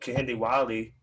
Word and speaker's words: Kehinde Wiley: We have someone like Kehinde Wiley, who started off, as that's how you say his name.